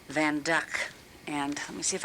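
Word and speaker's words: Van Dyck: People will say it's a Van Dyke, but it's pronounced Van Duck.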